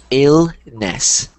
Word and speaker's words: illness: so one thing um it sounds like you're putting an H in front of this there's no h it's just illness illness perfect there you go